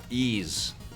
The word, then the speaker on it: Ys: I think Vic and Tommy discussed how to pronounce the name Ease.